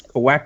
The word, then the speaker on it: Kowakian: And there Well, were Jawas and On the species call out, am I pronouncing this right? Kawakians? yes, Kowakian.